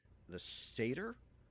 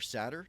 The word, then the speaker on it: satyr: So the Satyr or Satyr, depending on whether you're British or not, did make it in.